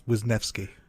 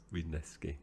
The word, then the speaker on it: Wisniewski: And whilst you were explaining that to listeners, I googled the pronunciation, and apparently it's Wisniewski. Wisniewski.